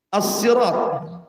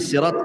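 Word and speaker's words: صراط: yang pertama HID ihdina asirat ada yang membacanya dengan Sin asirat ada yang mengatakan Shad asirat asalnya Sin Sirat kemudian orang Arab susah menyebutnya akhirnya jadi Shad asalnya Sirat jadi Sirat gitu Shad Dol gimana itu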